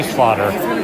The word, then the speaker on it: Schlatter: yeah hey and I like the way you pronounced my name a lot of people don't don't do it correctly but you're right schlau a nice thank you cool thank you Charlie